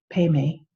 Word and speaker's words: Padme: compassion from one's heart I was pronouncing it using the uh Tibetan pronunciation which Padme is pronounced pay me but you can do